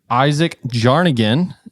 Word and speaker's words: Isaac Jarnagin: podcast my name is Ethan Marquis we have Isaac jarnagin did I pronounce it right yes sir let's go uh